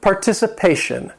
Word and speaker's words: participation: Number 17, participation. This word has 5 syllables. The stress is on that 4th syllable, participation.